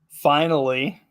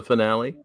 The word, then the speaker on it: Finale: a little song called finally are you sure it's not the finale well it it's actually spelled like finale but there's the the line over the E so it's the long e it's finally um so little little